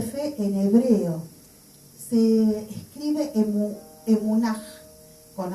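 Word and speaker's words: אמונה: El significado de fe en hebreo se escribe emunaj, con H final, emunaj, y significa verdad, fidelidad, fe, firmeza.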